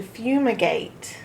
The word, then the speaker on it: fumigate: Few has to be on its own with nothing next to the U because the U is making its long U sound.